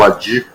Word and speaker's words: Wadih: é difícil mesmo né mas a pronúncia é o Adi da Luz Esse é